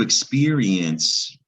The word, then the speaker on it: experience: And also experience, the I is making a long E sound.